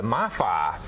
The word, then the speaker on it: MiFi: It's called the MiFi. It's easy to remember. Kind of rhymes with Wi-Fi, right?